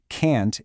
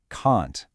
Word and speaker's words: can't: To make sure people know you're saying the negative, we really stress the word can't and use a long A sound. So it's not can't, it's can't.